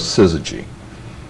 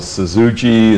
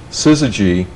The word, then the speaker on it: Syzygy: to bother us and people call the suzuki and susie g and and we thought